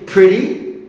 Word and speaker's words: pretty: attractive stunning stunning pretty no no pretty pretty okay silent t pretty okay good looking good